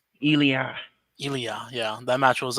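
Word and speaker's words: Ilja: Ela dragonov that's how you say his name elah elah yeah that match was uh pretty good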